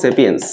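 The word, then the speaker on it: sapiens: আচ্ছা, তাহলে খেয়াল করে দেখো এই হোমোটা হচ্ছে গণের নাম, মানুষ হোমো গণের মধ্যে অন্তর্ভুক্ত, আর সাপিয়েন্সটা হচ্ছে প্রজাতির নাম, মানুষ সাপিয়েন্স বা এটাকে অনেকে সেপিয়েন্স উচ্চারণ করে, সেই প্রজাতির মধ্যে ইনক্লুডেড।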